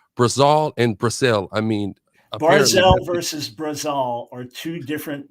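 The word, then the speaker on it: ברזל: Anyone who knows Hebrew knows it's barzel. It's not barzal. It's barzel.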